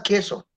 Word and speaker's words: queso: palabras, bueno, entre otras también, la U queda muda. Porque sin la U diríamos, pues, igual más queso.